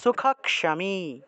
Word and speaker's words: সুখক্ষমী: সুখক্ষমী ক্ষিয় থাকায় ক্ষ উচ্চারণ হবে, তাহলে সুখক্ষমী। তাহলে আমরা পাঠ করি অদ্বেষ্টা সর্বভূতানাম, অদ্বেষ্টা সর্বভূতানাম মৈত্রঃ করুণ এব চ।